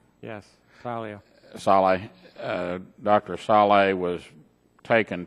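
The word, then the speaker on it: Salia: Martin Saleh, is that how it's pronounced? Yes, Saleh.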